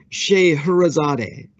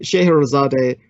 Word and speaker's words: Scheherazade: So the woman who gifted us, legendarily, the Arabian Nights, is remembered in the West as Scheherazade. And Scheherazade, her real name would be Shahrazad.